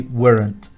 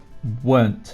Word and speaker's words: weren't: spell it like this but the way we pronounce it we say wasn't and weren't we don't say warrant weren't is how you say it you weren't then